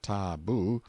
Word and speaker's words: tabu: in hiding-places till the tabu pronounced ta-boo, means prohibition, we have borrowed it, or sacred.